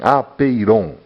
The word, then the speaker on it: apeiron: Ele deu o nome de apeiron, vamos dizer assim, pronunciar assim, apeiron, né?